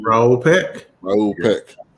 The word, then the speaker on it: Raoul Peck: name because I'm about to butcher it Raul Raul Peck thank you very much that's way out here